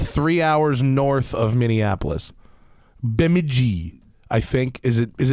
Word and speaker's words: Bemidji: you pronounce this here's how it's spelled yeah it's spelled wait b b:e m BEM i DJ I been Bemidji been BM i DJ I and